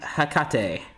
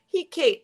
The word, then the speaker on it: Hecate: You can say, sometimes I've heard people say he cat, and I didn't know what they meant, but he Kate, Hecate. How do they pronounce? Well, they can't say because they're typing. Hecate.